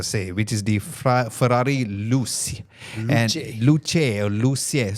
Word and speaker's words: Luce: So should we announce it as Luce or Luce? Luce. Okay, so I'll just say Luce all the way. Yeah? Okay, good. I want to make sure I say it properly. It's not Lucha. Yeah, it's Luce.